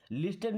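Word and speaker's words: listen: यहां पे जो टी लगा है ना इस ट्रिक को हम पढ़ते नहीं है। लिसन नहीं पढ़ना है।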